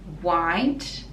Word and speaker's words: white: So in white, it's just w sound, and then the T, we don't really pronounce it if it's joined together with the next word, and you can just put your tongue at the back of the teeth and just stop the tongue there.